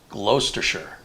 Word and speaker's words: Gloucestershire: Brian says Gloucestershire is pronounced Gloucestershire.